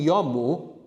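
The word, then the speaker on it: 読む: So if I tell you yomu is the informal for reading, yomu, rhyming with nomu.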